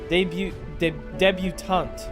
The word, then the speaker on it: debutante: It's so weird because in debut, the T is silent. So I assumed another word using the word debut as a base, the T would be silent. But no, I love English, dude.